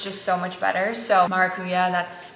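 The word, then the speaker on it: maracuyá: So maracuya, that's how it's said down here.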